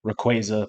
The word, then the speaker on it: Rayquaza: You can pronounce it the right way, Rayquaza, but we're not going to do that here.